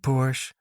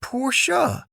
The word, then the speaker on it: Porsche: I've always loved Porsche. There's just something about them, she mused. It's actually pronounced Porsche, Nick clarified, his perfectionism surfacing.